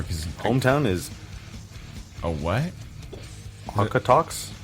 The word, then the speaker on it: Okotoks: Okotoks. Is that a real word? I'm assuming. It sounds made up. Well, it's Canadian. Calgary. Their current location is Okotoks, Calgary. Is that how you say it? Okotoks? Okotoks? Okotoks? That's as far as I can tell, dude. Where do you got unnamed source? Takanops? Oko. It's OKO. Here.